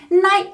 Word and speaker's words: knight: let's keep moving night night night night silent k night the oppos opposite of